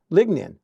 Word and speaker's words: lignin: in a substance called Legion ligin ligin lignin that's how you pronounce it and after the plants